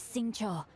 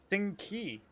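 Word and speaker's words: Xingqiu: My name is Sing Cho, a humble literature enthusiast who happened to be passing by. Wait, it's pronounced Sing Cho? I thought Sing Ki.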